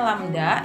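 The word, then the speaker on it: λ: Nah, menghitung panjang gelombang, ini lambangnya panjang gelombang seperti ini dibacanya lambda ya.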